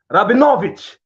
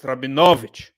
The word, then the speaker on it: Rabinowitz: will pronounce you as rabbinovich it's actually it's and it's got the emphasis like cosa is got the emphasis on the second last syllable so it's rabinowicz um nick thank